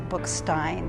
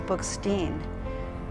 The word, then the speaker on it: Bookstein: although that's controversial um so it's traditional in the book signed family to to pronounce the name differently depending on which birth order you are so my kid's grandfather says bookstined his brother says book steamed my older daughter says bookstein my younger daughter says